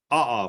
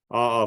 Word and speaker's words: aa: However, there's a second type, not quite as photogenic, called aa flow. It's spelled A, capital A, little a, aa.